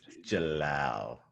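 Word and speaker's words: Jellal: Dang it, I always pronounce his name wrong. just Jalal, like Jalal.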